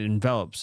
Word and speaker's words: envelop: So if you have something that covers something, it envelops it. Yeah. Just has a different accent on a different syllable.